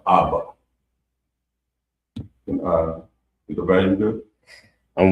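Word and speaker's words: אבא: So we're gonna go to the next word, which is father, and it's pronounced Abba.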